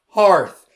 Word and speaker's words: hearth: Apparently, this is pronounced hearth.